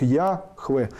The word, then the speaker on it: Яхве: В современном русском языке принято произношение с ударениями на первый слог Яхве.